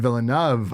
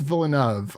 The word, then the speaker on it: Villeneuve: uh directed by Den vov I believe it's vov I've heard of villu but I believe it is vov vov sounds right yeah and the writers